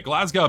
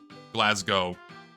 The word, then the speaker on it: Glasgow: The W is silent in Glasgow. Glasgow.